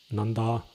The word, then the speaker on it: Nandā: one son Nanda and a daughter Nanda with a long a at the end and both of them